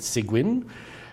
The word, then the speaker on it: Seguin: I would say I'm French, but she pronounced it Seguin, her last name.